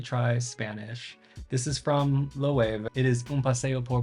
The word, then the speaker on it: Loewe: This is from Loewe.